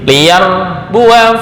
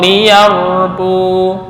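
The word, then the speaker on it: ليربوا: maupun waqaf ya jadi liar Bua Fi tapi ketika waqaf liyarbu bukan liarbua salah Kalau diteruskan liar Bua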